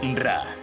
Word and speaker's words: Ra: Qué mejor sitio para rendir pleitesía re que este, que es el más cercano al sol. Ra, que también se pronuncia Re, era el dios del